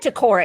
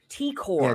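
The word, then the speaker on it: T'Kor: Wait, right, you said Takora, Aaron. I'm sorry. T-Core.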